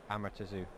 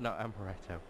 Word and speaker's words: Amaterasu: Bujinki Amaterasu. Amaretto. Not Amaretto. Do you want to bring the card up on screen? Yeah, I will do that. There you go. Here we go. Amaterasu.